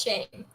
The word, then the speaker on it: Schene: It's Shane. Schene with an A?